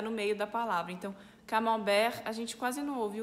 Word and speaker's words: camembert: O primeiro é camembert, que aqui a gente fala camembert. Camembert, a gente tem o E-N juntos, que é o mesmo som de A-N juntos, é en, camembert. E de novo a gente tem o T mudo, né?